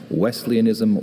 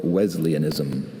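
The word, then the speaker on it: Wesleyanism: Wesleianism or Wesianism.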